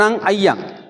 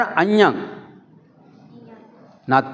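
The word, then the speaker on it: अञ्ञं: हैं नति मेंे सरण अय अय नहीं है अयं गलत है इसका उच्चारण अन ना में सरण अन अ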